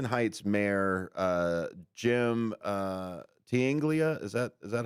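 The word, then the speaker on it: Tinaglia: Um so the Arlington Heights mayor uh Jim uh Tanglia, is that is that how you pronounce it? T I N A G L I A. Tiglia.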